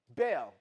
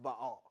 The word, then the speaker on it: Baal: And so Bale, but it's it's actually pronounced Baal in the Hebrew text.